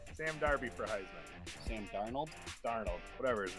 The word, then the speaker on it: Darnold: I said Sam Darby. Sam Darby for Heisman. Sam Darnold?